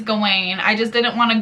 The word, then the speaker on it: Gawain: the round table so I said his name wrong earlier it is Gawain I just didn't want